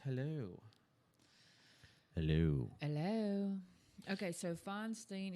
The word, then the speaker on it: Feinstein: Okay, so Feinstein, is it Feinstein or Feinstein? Some people say I call her Feinstein. Is that because it rhymes with Frankenstein?